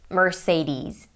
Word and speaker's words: Mercedes: pronunciations down below in the description so that you can hear the pronunciations of these car brands for yourself so in the US they say Mercedes Mercedes American and British